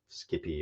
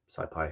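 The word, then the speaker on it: SciPy: written in Python with with Skippy or scipi however you choose to pronounce it and pandas uh we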